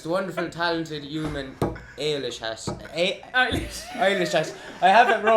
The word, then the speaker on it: Eilish: of like eyelash or something. Eyelash. That's it, yeah.